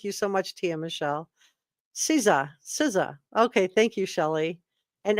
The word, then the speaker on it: Caesar: If you think I did a good job, that's just it's pronounced Caesar. Thank you. I didn't know how to pronounce it. Thank you so much, Tia Michelle. Caesar.